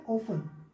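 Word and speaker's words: often: एक वर्ड है ऑफन। ऑफन, देखो OF में टी साइलेंट है ना, तो ऑफन का मतलब अक्सर, अक्सर, है ना, राइट, अक्सर।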